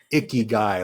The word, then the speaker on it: ikigai: I know it's pronounced icky guy, like this guy at the Yeah, that's club or whatever.